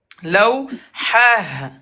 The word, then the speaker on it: لوحة: Laou, ha. لوحة Non, tu fais r à la fin, c'est pas r.